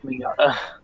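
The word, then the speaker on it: Mignogna: controversy surrounding uh Vic Manana um and it is UN that actually how you pronounce his name yes yeah you you pronounce his name Vic minata Vic minata I always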